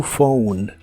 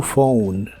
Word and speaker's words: phone: o como New y la pH de la palabra phone se pronuncia como una F a new phone a new phone usaremos las palabras a